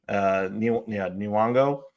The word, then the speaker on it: Nyong'o: Nyong'o.